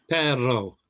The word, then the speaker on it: perro: Perro is stresses slight pause between the R's and a slight stress on the second one also works.